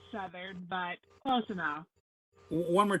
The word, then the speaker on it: Southard: Did I pronounce that properly? It's Southard, but close enough. One more time. Southard.